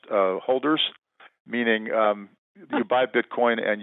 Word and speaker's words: HODLers: to Bitcoin, is they call themselves hodlers, but it's pronounced holders, meaning you buy Bitcoin and you hold on for dear life.